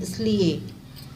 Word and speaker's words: इसलिए: फिर इसलिए नहीं, इसलिए, छोटा ई की मात्रा का उच्चारण होता है।